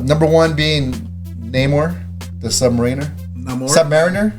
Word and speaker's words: Submariner: it so yeah some I said Submariner but some people say Submariner I don't know submarine sandwich uh which they changed the